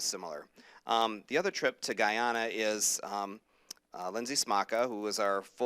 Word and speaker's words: Guyana: to the Spain trip and the, am I pronouncing right, Guyana? Guyana.